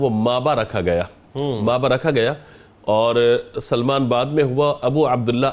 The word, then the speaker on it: سلمان: کی اصلاح چاہتا ہوں۔ بعض لوگ آپ کو سلیمان پڑھتے ہیں، سلیمان نہیں بلکہ سلمان ہے، یہ یا کے ساتھ نہیں ہے، تو اس کو تلفظ کو درست ہونا چاہیے۔ دوسری بات یہ ہے